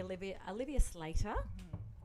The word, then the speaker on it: Olivia Slater: So today we have a beautiful lady, Olivia Slater.